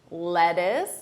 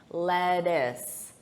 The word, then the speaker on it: lettuce: Lettuce. Notice that unstressed pronunciation. Lettuce. Lettuce.